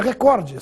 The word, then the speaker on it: recorde: agora proponho uma questão Qual é a forma correta Record ou Record ouve-se cotidianamente a forma Record com uma tonicidade na anti penúltima sílaba portanto como proparoxitono porém essa forma não está registrada nos dicionários e no vocabulário ortográfico da Academia Brasileira de Letras a forma registrada é recorde sem acento oficialmente ela